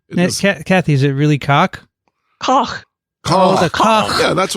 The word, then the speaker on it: Koch: we're going to work on the pronunciation of that. Well, what is it? I thought it was Coke. Kathy, is it really cock? Koch.